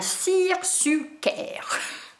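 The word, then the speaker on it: seersucker: le troisième tissu alors attention à la prononciation je vais essayer de faire un cirque Suker donc non je vous l'ai plaît donc s e e r s u C k e r donc la référence de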